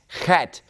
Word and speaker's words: Chet: Okay, so this letter, Chet, Chet, it's basically just like the Greek letter He, right? That hard H sound. Or it's like a German CH sound, like in the number 8, which is Acht, right? Acht. It's that hard H, clearing your throat kind of a sound.